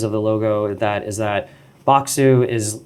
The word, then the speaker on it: Bokksu: Why don't you name your company Bokksu, which is Bokksu? It's the Japanese pronunciation of box.